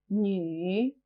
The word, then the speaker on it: 女: 女, 女. This character can be a bit difficult to pronounce. It sounds a bit like a crossover between nu and ni.